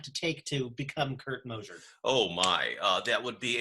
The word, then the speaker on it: Mosier: Many of my students at Port Angeles High School will be familiar with the name Kirt Mosier. Am I pronouncing that correctly? Yes, Mosier.